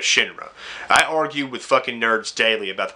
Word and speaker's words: Shinra: idiots out there that always thought it was pronounced shine run instead of Shinra I argued with [